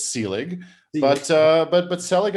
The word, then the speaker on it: Selig: second most common um it's the most common mispronunciation of my name and people have mangled it in so many more worse horrid and offensive ways that if someone says selig it's really no big deal it's sealing but uh but but